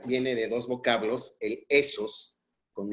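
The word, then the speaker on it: ἦθος: Pero hay dos tipos de ethos, o de esos, que es la pronunciación correcta, de esos.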